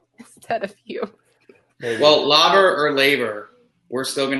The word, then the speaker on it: Laver: my brain just automatically, because in Romanian you read letters the way that they're actually supposed to be pronounced. So you don't say you would literally say la, you say Laver la, Cup. not lay.